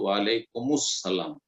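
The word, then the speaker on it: وعليكم السلام: যদি মিলিয়ে পড়েন ওয়াসল, যদি মিলিয়ে পড়েন আর আরবি মিলিয়ে পড়তে হয় এরকম ক্ষেত্রে তো ওয়ালাইকুমুস সালাম মিলিয়ে পড়বেন। আলটা তখন সাইলেন্ট হয়ে যাবে, আল সাইলেন্ট হয়ে তখন মুসালাম হয়ে যাবে, ওয়ালাইকুমুস সালাম। আর যদি সেখানে ওয়াকফ করেন, ওয়াসল না করে থেমে যান, তাহলে ওয়ালাইকুম আর আসসালাম, ওয়ালাইকুম যুক্ত আসসালাম, আর যখন দুটোকে একসাথে মিলালেন তখন ওয়ালাইকুমুস সালাম।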